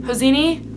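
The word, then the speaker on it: Hosseini: books that I'm interested in is khed hosini hosini I think is how you say his name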